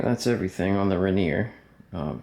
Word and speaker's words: Rainier: that's everything on the reneer um spell Rainer pronounced reneer from Frank's boots I'll